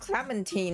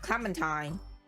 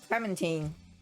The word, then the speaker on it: Clementine: Oh, it's pronounced Clementine, not Clementine. It's Clementine.